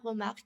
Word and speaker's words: Remarque: parle de àouest rien de nouveau d'Éric Maria Remarque je prononce à la française qui a été adapté